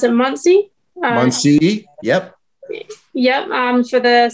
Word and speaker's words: Muncie: And then from there I go to, I think it's, you pronounce it Muncie.